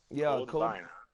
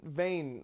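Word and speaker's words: Vein: have not seen that vine yeah I said Vine I mean vain I I keep saying it wrong I'm sorry everybody who's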